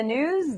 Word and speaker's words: gnooze: Hello and welcome to the gnooze. The G is silent.